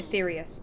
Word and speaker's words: Aetherius: As of now, our mighty moon has a new purpose, to bear the people of Aetheris to safety. Aetherius. Perfect. Thank you.